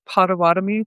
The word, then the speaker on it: Potawatomi: She is a member of the Potawatomi tribe.